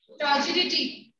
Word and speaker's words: turgidity: Ma'am, could you pronounce this word after provides? Provides. Turgidity.